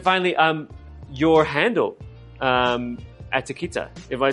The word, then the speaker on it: Attekita: Um, finally, um your handle um Atakita, am I saying it correctly?